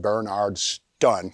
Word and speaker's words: Bernardston: wrecking in bernardston massachusetts they were pronounced at bernard stun call them up they're